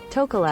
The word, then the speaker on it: Tokelau: So what is the pronunciation, first of all? Tokelau.